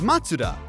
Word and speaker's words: Mazda: The correct way to say Mazda is Matsuda. And yes, I know I just pronounced it wrong while explaining the correct pronunciation, but relax.